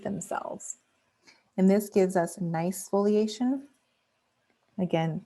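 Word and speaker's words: gneiss: and this gives us nice foliation again pronounced like the word nice and here we have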